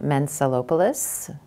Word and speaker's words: Mentzelopoulos: give us your name my name is Mensa lopoliths it's spelled just like it sounds M ent that